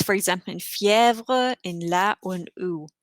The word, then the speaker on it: fièvre: It's like an EH sound almost, or fièvre. And for the letter A and U, it doesn't change the pronunciation, but it can indicate that it's a different word.